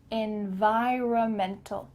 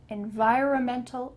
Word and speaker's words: environmental: let's break it down en vi ra mentol environmental environmental engineer i'm an insurance broker i work in